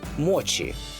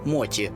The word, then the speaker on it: мочі: є лише чі тому мочі людина яка полюбила мочі найбільше з усіх смаколиків і зробила їх приготування своїм бізнесом поки що називає їх Моті Можливо вона видше перейде на правильнішу вимову бо росіяни її ледь